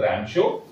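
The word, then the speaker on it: Ramsjö: रमशो pronounce करेंगे इसको known ऐ रमशो।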